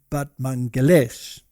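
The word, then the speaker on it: Batmanghelidj: this one over here batman gildi but apparently you pronounce it but mangalesh now he was an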